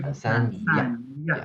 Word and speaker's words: 坦桑尼亚: 坦桑尼亚。欢迎来坦桑尼亚。坦桑尼亚。Yeah. And so the words for Kenya and Tanzania are very similar to the English pronunciation.